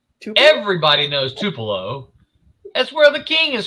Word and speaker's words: Tupelo: here in Tupelo and I'm like everybody knows Tupelo that's where the king is from everybody knows Tupelo Mississippi but he said to pillow I'm like no yeah nobody can pronounce the